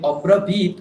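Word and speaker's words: अब्रवीत्: আচার্যমুপসংগম্য রাজা বচনমব্রবীত হ্যাঁ, ওই অব্রবীত ওখানে বয় দীর্ঘ আছে, সুতরাং ওটাকেও ওই দীর্ঘটা টেনে তারপরে খণ্ডত্বটা বলবেন। বীত বয় দীর্ঘ ই, তারপর তয় হলন্ত।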